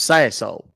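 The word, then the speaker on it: Sassohl: lost me oh yeah last name is s a s s o h l pronounce Sayo all right sir so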